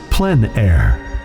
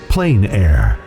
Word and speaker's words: plein air: which means open air or outdoors the French pronounced it plan air others say plein air no matter how you say it there is